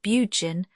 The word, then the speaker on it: Burgoyne: He pronounced it Bugen, which my informant used to borrow.